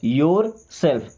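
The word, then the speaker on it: yourself: ये क्या लिखा है योरसेल्फ बट यहां पे र को हम साइलेंट करेंगे ओके केवल उच्चारण के लिए क्या बोलेंगे योरसेल्फ योर सेल्फ देखिए योरसेल्फ बोलिए फिर योरसेल्फ बोलिए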